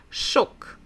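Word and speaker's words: шок: shocked so shock shock only one vowel so only one syllable shook shook don't forget to repeat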